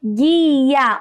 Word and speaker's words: guia: em um muito bem na palavra guia olha só isso é apenas um único som formado pelo jeito pelo